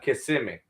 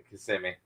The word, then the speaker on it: Kissimmee: Yeah, they'd be kissing me, and I'm like Kissimmee. No, Kissimmee. Kissimmee. I wouldn't have known that. Yeah, no, they'd be like Kissimmee. It's spelled just like it, but it's Kissimmee.